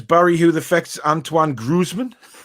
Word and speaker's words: Antoine Griezmann: Andy says, Barry, who affects Antoine Griezmann? Antonio Griezmann? It's Antoine Griezmann, Barry.